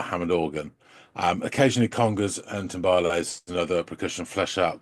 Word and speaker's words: timbales: Is it timbales?